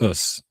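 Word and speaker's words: 押忍: It's called US. It's spelled OSU. And it means uh the it's it's basically like the um finding the presence in the continual unfolding of now.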